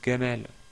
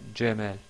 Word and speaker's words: Jamel: disent gabalon gabalon gabalon pour le prénom connu Jamel il disent Gamel donc ils disent pas gemel voilà donc ça c'est